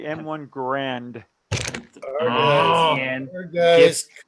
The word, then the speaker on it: Garand: It's not an M1 Garand. It's not an M1 Garand.